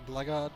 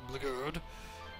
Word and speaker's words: Blgurd: Please pronounce it Blackguard, gentlemen. Don't pronounce it Blgurd, even though we can't fit in any of the vowels.